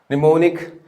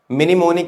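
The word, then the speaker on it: mnemonic: देखिए, निमोनिक, एम is silent hair, मिनिमोनिक नहीं होता, निमोनिक टेक्निक होती है।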